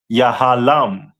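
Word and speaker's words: יהלום: And their stone is a diamond which is pronounced in the Hebrew as yahalam.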